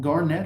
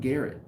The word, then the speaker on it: Garnet: i'm saying it right is it garnett hotel or is it garrett it's the garnet it's the garnett so